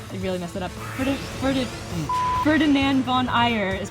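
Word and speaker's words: Ferdinand von Aegir: that ferdinand gosh they really messed it up ferdinand von eyer is pronounced ferdinand von eyer because i probably would have pronounced it here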